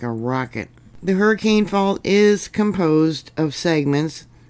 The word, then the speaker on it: Hurricane: Locals pronounce it hurricane, not hurricane like many of us do.